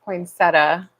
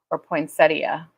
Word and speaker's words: poinsettia: there's that poinsettia how many of you say poinsettia poinsettia A or B what do you say poinsettia I grew up saying poinsettia but I think as it's spelled that's not quite right to pronounce it like that is probably technically correct interest I find it